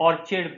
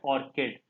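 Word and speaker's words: orchid: कुछ बच्चे इसे ऑर्चिड भी कहते होंगे, एक्चुअली उसका प्रोनाउंसिएशन है ऑर्किड।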